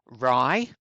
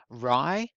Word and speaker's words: wry: So the last two are wry, we don't pronounce the W, wry, and droll, something that's droll.